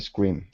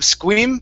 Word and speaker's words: scream: c r you uh for the r you pronounced a u sound saying school squeam okay instead of squeam it's skur okay curve your tongue up a little bit okay to pronounce that r square scream scream there you go there